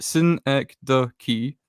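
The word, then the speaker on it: synecdoche: of me um okay syn the key pronounced Sy the key is a figure of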